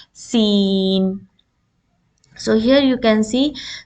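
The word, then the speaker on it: سين: raise your tongue in this letter you should not raise your tongue as this is a light letter so when you put the tip of the tongue behind your lower end scissors you will pronounce scene and it is a kind of you have to stretch your lips sideways scene so here you can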